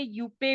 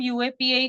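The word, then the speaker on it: UAPA: एक्ट 1967 है ना यूएपीए इसको बहुत सारे यूपे भी बोलते हैं पता नहीं क्या उसका प्रोनाउंस एशन करते हैं बट इट इज a best कि हम यूएपीए करें बिकॉज मोस्ट ऑफ द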